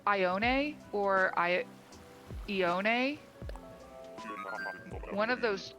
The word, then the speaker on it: Ione: Anyway, she said that she says it Ione, and I figure if that's your favorite villager, you probably know how to say her name. So that's what I went with.